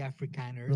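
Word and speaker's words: Afrikaner: It's actually Africaner.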